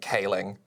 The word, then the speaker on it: Céilí: I remember it and it's pronounced like ceiling if you pronounce ceiling like Kaling right what is the